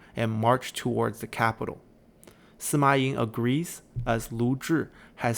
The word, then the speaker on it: Sima Ai: Sima Ai is another one of the 8 princes, and in Chinese his name should actually be pronounced Sima Yi. But historically there have been some accounts of his name being pronounced Sima Ai, and since the 8